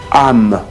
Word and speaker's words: âme: Et le A de ami, c'est ça qu'il ne faut pas. Il faut prononcer, ouvrir la bouche de façon arrondie comme ça.